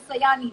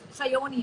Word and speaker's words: Sayani: help me with the pronunciation of your name because sometimes people pronounce your name as Sayani, but your name is Shayoni, I believe.